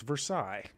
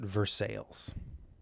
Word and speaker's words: Versailles: they pronounce them um they pronounce them with like American accents at the end of the world so there's a town called Versailles in Kentucky that's Versailles but they pronounce it Versailles so weird honestly I